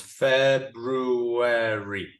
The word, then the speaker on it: February: February Fe February February how many syllables in February February ah there are actually four right four syllables February February February how many